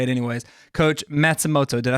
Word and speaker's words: Matsumoto: Coach Matsumoto.